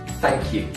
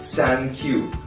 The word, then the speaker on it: thank you: There is one thing I like to say about the pronunciation that a lot of Chinese people have. Of course, there's the internet phenomenon of san q. Yes. Yeah. You know, the Chinese people always think that 三克油.